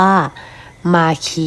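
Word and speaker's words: marquee: เลื่อน หา คำ ว่า มาคี นะ คะ หรือ จะ ออก เสียง เป็น ภาษา อังกฤษ อย่าง อื่น ก็ ได้ นะ คะ แต่ ว่า ออก เสียง ว่า มาคี ก็ ง่าย ดี นะ คะ จะ อยู่ ใน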